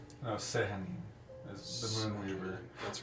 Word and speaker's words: Sehanin: The two gods that were mentioned, I believe it's Saloon, the Moonweaver is how it's pronounced. No, Sehanin is the Moonweaver.